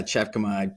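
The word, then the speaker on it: Tjepkema: Yeah, Chepkema. Thank you for pronouncing that.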